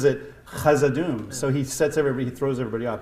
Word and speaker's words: Khazad-dûm: Is it pronounced Khazad-dûm or Khazad-dûm? Khazad. Is it Khazad-dûm or Khazad-dûm? It's Khazad. Are we writing or are we? Whatever. Yeah, sure. So basically, either a K or a rough H, essentially.